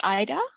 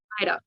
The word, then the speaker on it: Ida: but our second speaker not sure if it's Ada or Ida would you like to come online yes we can hear you also how do you say your name um it's Ida Ida awesome welcome Ida um